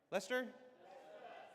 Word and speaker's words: Leicester: Lester.